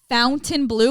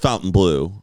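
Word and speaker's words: Fontainebleau: it's Sicilian whatever we're Sicilian so it is Fountain Blue why is there no U there is a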